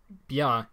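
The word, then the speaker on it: བྱ: the corresponding Powell stop so BIA in the old phonology is now pronounced cha in the word bird these are the only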